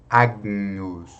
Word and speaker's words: Agnus: GN possui som de NH, como em Agnus. Veja, aqui tem o G, né? Então, nós podemos pronunciar o G, só que de forma bem suave. Agnus, Agnus.